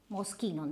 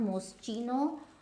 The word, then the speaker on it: Moschino: Now, this is Moschino. This is not Moschino, Moschino, Moschino.